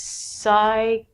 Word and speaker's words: psychology: k'nuckles good next one these are words that we do not say the P the first one is a really long word it means psychology anytime you see the